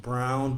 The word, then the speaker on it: Braun: jail good morning mary braun even though mary technically your last name is german it should be pronounced brown but i'm not going